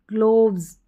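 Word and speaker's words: gloves: Drives, ग्लोव्स, यहाँ पर ग्लोव्स नहीं है, ग्लव्स है, क्या है, ग्लोव नहीं है, ग्लव्स है, ठीक है, ग्लव्स हो गया।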